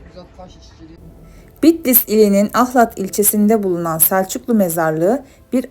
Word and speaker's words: Ahlat: Şehir Bizanslılar döneminde Kıhlat, Süryaniler döneminde Kihelat, Araplar döneminde Halat, İranlılar ve Türkler döneminde ise Ahlat olarak telaffuz ediliyordu.